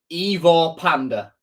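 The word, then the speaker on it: Ivor Pandur: I will just say I've had it confirmed to me by media team, by Google Translate, by stuff like that you pronounce it Ivor Panda.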